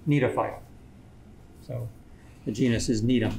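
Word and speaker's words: Gnetophyta: you pronounce that yeah you wouldn't pronounce the g need a fight so the genus is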